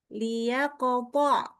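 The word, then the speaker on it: ليقطع: Yang benar mana? Jawaban yang benar adalah dibaca memang pakai li. Lia kopo. Gitu. Gitu ya. Jadi bukan al, tapi ini sebenarnya dari kata lia kopo.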